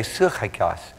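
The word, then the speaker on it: σαρκικός: Sarkikos. You could say suchikos, but it's a little easier to pronounce it sarkikos.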